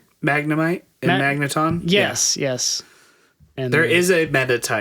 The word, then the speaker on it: Magnemite: Um the I always butcher the names. Metatite, Magnemite, and Magneton.